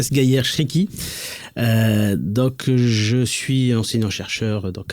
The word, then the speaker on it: Sghaier Chriki: Donc déjà merci d'avoir prononcé mon prénom correctement. Donc c'est bien Sgayer Shriki.